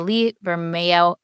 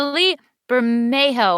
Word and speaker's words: Lee Bermejo: i think i have to decide that the lee vermeo i know how to say his name the lee bermejo one was my favorite because i love the